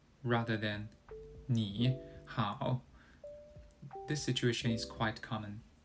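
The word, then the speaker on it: 你好: In this case, we change 你 to a second tone, making it 你. So it sounds like 你好 rather than 你好.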